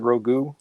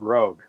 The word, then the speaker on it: Rogue: She steals people's powers, Rogu. And he's like, you're an idiot. That's pronounced rogue.